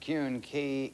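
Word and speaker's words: Keune: for today's game was Fred Kuhn key k-e-u-n-e I believe that's how it's pronounced you and of Fort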